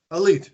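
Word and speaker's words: Alite: and by the way is his name pronounced a light or elite because we've always been saying elite elite that's right okay um because we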